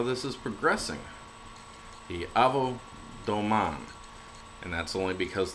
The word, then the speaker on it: Domaine: is progressing the AO Doan and that's only because the word is actually French so uh the e at the end is not pronounced uh um and uh